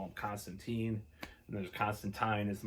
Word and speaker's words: Constantine: The comic actually had in the 80s or 90s how to really pronounce his name, and it is Constantine.